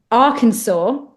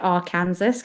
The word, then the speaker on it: Arkansas: Arkansas nice okay um I'm pretty sure it's Arkansas as I said that and then I also have to remind myself not to pronounce it AR Kanas because that's AR Kanas I say it like